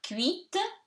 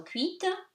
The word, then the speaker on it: cuite: Here, cuite, T is pronounced because of the vowel E that reinforces it, but stays silent. So, cuite.